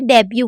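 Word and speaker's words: debut: अब यहाँ पर यू को यू पढ़ा गया है और टी साइलेंट है, इसलिए हम इसे डेब्यू पढ़ रहे हैं।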